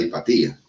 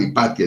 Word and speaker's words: Hipatia: La anécdota de Hipatía. Yo no me acuerdo si es Hipatía o Hipatia, ya que se me olvida. Lo pronuncian de las dos formas.